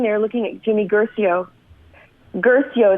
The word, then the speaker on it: Guercio: looking at Jimmy Guercio Guercio is how you say his name gracie o-ue our cio